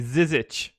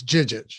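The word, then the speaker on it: Žižić: Anthony Davis and Ante Zizic. Did I get that one right for you? No, it's Jijic.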